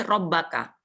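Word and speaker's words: ربك: Lah ini robbaka. Ba-nya ada ada tasdid. Ada tasdid. Robbaka ini belum ada artinya ya. Karena penulisannya untuk tujuan membaca saja. Robbaka.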